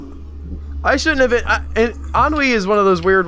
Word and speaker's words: ennui: Should be more like Al, getting hurt by his ennui. Ennui? Sheer nothingness of life, Ennui. causing him pain. It's pronounced ennui.